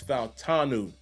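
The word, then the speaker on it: Fautanu: pronouncing his name so the pronunciation of his name is fanu fanu fanu I know last night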